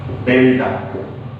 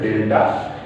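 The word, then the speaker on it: Δ: Actually del is delta. Okay, we pronounce it delta.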